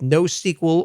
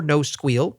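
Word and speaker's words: NoSQL: alike are succeeding with no sequel or no squeal your pronunciation is up to you and Apache Cassandra it's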